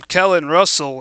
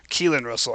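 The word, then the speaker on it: Keelon Russell: A bad throw there from Kellen Russell. And now it's third and five. Keelin Russell. I mispronounced that.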